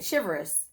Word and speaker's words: chivalrous: Chivalrous, chivalrous. So the L is silent. Chivalrous, chivalry, chivalrous. Anyway, y'all, I don't care.